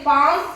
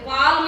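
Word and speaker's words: palm: ಉಚ್ಚಾರ ಆಗೋದಿಲ್ಲ ಅದಕ್ಕ ಸೈಲೆಂಟ್ ನೋಡ್ರಿ ಎಲ್ ಇಲ್ಲಿ ಪಾಮ್ could chop should L ಎಲ್ ಅಂದ್ರೆ ಅದನ್ನ ಎಲ್ ಅನ್ನಲ್ಲ ಒಂದನೇದು ನೋಡು ಪಿ ಎಲ್ ಎಂ ಮತ್ತೆ ಪಾಲ್ಮ್ ಅಂತೀವಿ ಪಾಮ್ ಅಂದ್ವಿ ನಾವು ಎರಡನೇದು ನೋಡು ಕುಡ್ ಸಿ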